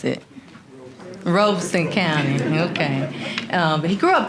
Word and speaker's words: Robeson County: Daddy, how do you pronounce it? Robeson County, okay.